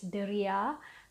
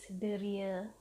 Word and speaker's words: deria: Now, senses in Malay is Deria, and I know the spelling is Deria, which you can say that as well, but it sounds more formal. If you want to sound more conversational, it is Deria.